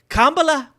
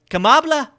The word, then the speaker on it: Kamala: of kamla wait how does he say her name wrong Kamala kambla it was kambla and they they made her